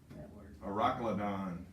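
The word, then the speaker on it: Euroclydon: But the Weather Channel comes an Aeroclydon is how you say this.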